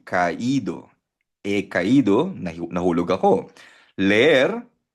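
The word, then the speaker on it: caído: So pag tinanggal mo kasi yung r sa magiging ah kaido. Pero para ma-pronounce maigi yung ido, lalagyan mo ng asento yung i. Kaido eh.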